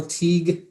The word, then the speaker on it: Teague: roll okay so uh kyle teague it's pronounced fatigue as our new director